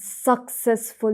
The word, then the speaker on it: successful: I rent man's narrow and successful life and force his sorrowful eyes to gaze. Yeah, sorry. It's successful. Successful. Not successful, but successful. Second second syllable.